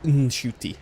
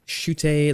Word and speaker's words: Ncuti: popular as an actor, I made this whole video being like, my name is pronounced Shute, like shoot and a shooting star with an A on the end.